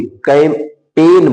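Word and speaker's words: campaign: इसी तरह से कैंपेन, देखो यन के पहले क्या आया है, जी, इसलिए इसको कैंपेन नहीं बोलेंगे, कैंपेन बोलेंगे, जी का कोई उच्चारण नहीं होगा।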